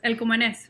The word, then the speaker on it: El Cumanés: Am I pronouncing that El correct? Cumanés. El Cumanés. El Cumanes. Okay, good.